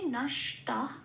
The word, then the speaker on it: नष्ट: তাহলে এই শব্দের উচ্চারণটা কি পাবো সংস্কৃততে? নষ্ট।